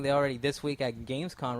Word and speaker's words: Gamescom: GamesCon. Not until you say it right. It's with an M. Is it Gamescom? Gamescom.